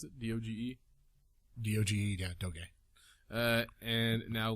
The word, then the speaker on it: Doge: Is that how you pronounce it? D-O-G-E?